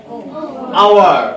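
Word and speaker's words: hour: H consonant, কিন্তু ওই আওয়ারের ঘন্টার উচ্চারণটা হয় কি? আওয়ার। আওয়ার এইচ এর মতো উচ্চারণ হয় নাই, না হয়ে কি অ এর মতো উচ্চারণ হয়েছে, ভাওয়েল সাউন্ড উচ্চারণ হয়েছে, যার কারণে কনসোনেন্ট হওয়ার পরেও এখানে কি হবে?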